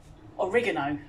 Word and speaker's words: oregano: Um, now the overwhelming scent as I open that is of oregano or oregano as Americans would pronounce it and probably other places in the world.